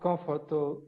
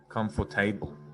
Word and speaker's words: comfortable: comfortable comfortable talking about i pronounce that word comfortable comfortable comfortable yeah comfortable comfortable this must be one of the most one of the most difficult words i don't know if it's mispronounced but i know that in australia people say comfortable comfortable okay but almost all of my students say come for table or comfort to come for table or comfortable i say comfortable comfortable